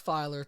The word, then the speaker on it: Feiler: So I'm so excited to be speaking with author Bruce Feiler today. Am I pronouncing your last name correctly?